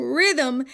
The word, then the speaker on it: rhythm: the first H in rhythm and lost. Oh, the silent H will get you every time.